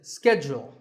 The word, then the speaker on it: schedule: in American English this is scheduled the first syllable is skipped and the second is jewel schedule in British English